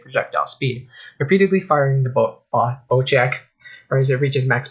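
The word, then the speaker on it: Bocek: The new Bowcheck, pronounced Bowcheck, Compound Bow is a precision marksman weapon that rewards a skilled and confident hand.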